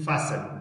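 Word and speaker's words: fasten: کله اس نه وروسته ټي راسي د جملې په منځ کې وي بیا ټي نه تلفظ کېږي. او ټي اچ له ټي نه وروسته که چېرته سی اچ راسي بیا هم ټي سایلنټ.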